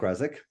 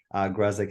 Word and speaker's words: Gesik: is right uh gesik that's how you pronounce it I know it's a crazy sounding last name right gik is the the English version uh but uh my